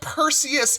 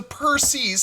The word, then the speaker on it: Perses: And no, it's not Perseus, it is the Perses.